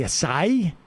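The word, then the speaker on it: açaí: Emma, big fan of the acai, so taught me that's how you pronounce it, but I've enjoyed the pear, the strawberry, the lemon lime.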